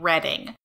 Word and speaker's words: Reading: Also, people mispronounce that as reading all the time on purpose because they don't think Reading makes sense.